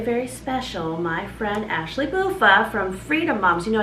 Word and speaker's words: Buffa: Yeah, and then I was like, it's Buffa. It rhymes with loofah.